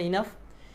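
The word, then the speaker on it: enough: ব্যবহার কি এনাফ এনাফ এনাফ এটা উচ্চারণটা ইনাফ ইনাফ এর ব্যবহার কি ইনাফ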